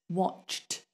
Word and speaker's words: watched: one of those sounds when people say watched often it just sounds like watch people forget the the Ed on the end sometimes people do it like watch do with a d but it's not a duh it's a t watched watched when you have a